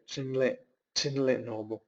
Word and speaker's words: Thinley Norbu: By the way, Thinley Norbu Rinpoche, his name is spelled thinly, but it is actually, we would say, Thinley Norbu.